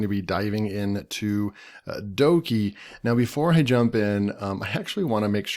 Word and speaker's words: Dokey: pronounced okie dokie okie dokie Doki Doki okay so I'm back so we're definitely going to pronounce it Doki if you watch this